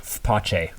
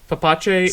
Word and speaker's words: F-Pace: It's pronounced pace. Face severe.